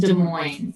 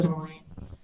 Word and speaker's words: Des Moines: That's what it looks like, but it's pronounced Des Moines. So it's a French word, and so there's some French heritage to some of the settlers in Iowa, and so yeah, it's pronounced Des Moines.